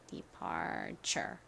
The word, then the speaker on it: departure: 텐데요 어 소리 하는지 기억나시나요는 한 덩어리로 이렇게 발음이 됩니다 departure 혹시이 수업을 통해서 처음으로 봄날 영어 학교를 알게